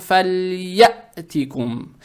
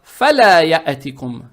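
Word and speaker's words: فليأتكم: Букву лям произносим мягко. И когда букву лям с сукуном произносим, язык тут же не надо убирать, чтобы не было фаляятикум. Не фаля, а надо читать фаль.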